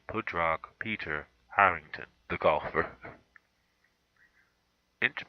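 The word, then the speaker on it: Pádraig: I learned how to pronounce Pudrag. Now I know how to say Pudrag Peter Harrington, the golfer.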